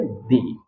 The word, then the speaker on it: the: इसके पहले जो THE आया है इसको हम पढ़ेंगे दी।